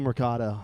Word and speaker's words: Mercado: Did I pronounce your last name right? You got it. It's deceptively a very easy last name to pronounce. Nobody remembers. Dude, I want to just roll the R with it.